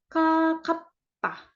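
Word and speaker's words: 가깝다: dekat itu kita bilangnya kakapta kakapta ya a kap nah walaupun ini g hurufnya tapi kita bacanya tuh agak ada k-nya gitu jadi kayak k kapta gitu k kapta artinya dekat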